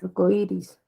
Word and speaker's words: arcoíris: Tú dices arcoiris o dices arcoiris. Arcoiris. Arcoíris. Ajá, o sea que esa ahí está sonando más.